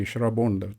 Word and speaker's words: Shravana: So Ashada became Adi in Tamil, whereas Shravana continues to be Shrabon, the way the Bengalis pronounce it.